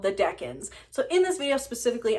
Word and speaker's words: decan: which turns out is not pronounced deacons but deckin and if you don't